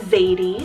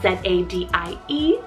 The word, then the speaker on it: Zadie: Making our way down the list here, another Z name, I have Zadie, spelled Z-A-D-I-E, Zadie, and this one means princess.